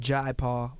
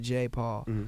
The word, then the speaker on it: Jai Paul: His name is properly pronounced Jai Paul, but I think he pronounces it J Paul. Culturally, it's Jai. I think.